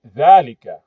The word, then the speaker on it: ذلك: We spoke about the pronunciation of ذلك, even though it's written just like here, it's pronounced ذلك. It's written without the alif.